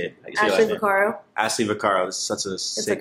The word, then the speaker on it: Ashley Vaccaro: Ashley Vaccaro.